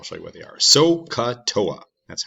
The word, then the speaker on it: SOHCAHTOA: things and i'll show you what they are soca toa that's how it is pronounced sohcahtoa it's fun to say and it's a helpful